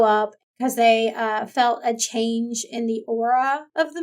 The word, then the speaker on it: Chang'e: It kind of focuses on the daughter of the moon goddess, like the title says, but Chang'e, I think is how you pronounce her name.